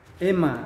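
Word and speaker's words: αἷμα: Ini tidak dibaca I, tapi dibaca E. Bacanya E. Nah, ini kan bacanya adalah E. Ya. Contohnya pada kata Ema, ada di situ kan?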